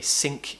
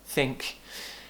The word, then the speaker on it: think: They might say sink instead of think.